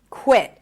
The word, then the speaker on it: quit: Now I I pronounce it as a held t. So it's an abrupt stop of air.